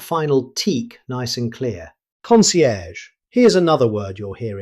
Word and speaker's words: concierge: Concierge. Here's another word you'll hear in hotels and luxury businesses. Concierge. Native speakers usually pronounce it concierge. Notice the soft -ge sound at the end.